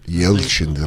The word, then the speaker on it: Yelchin: Then maybe it's not Anton Yelton. Am I saying it right? Yelchin? Yelchin, Russian.